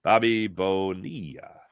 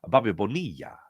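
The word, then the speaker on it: Bobby Bonilla: Bobby Bonia. Remember the way John Miller used to say his name on Sunday Night Baseball? Bobby Bonia.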